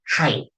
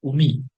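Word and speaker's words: 海: Ini cara baca onyominya ada kai. Ya, cara bacanya kai. Selanjutnya ada cara baca kunyominya, cara bacanya umi.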